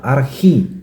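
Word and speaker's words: ἀρχή: sekali lagi Ari oke ternyata pengucapannya pronounsnya adalah arhi bukan ar tapi itu enggak masalah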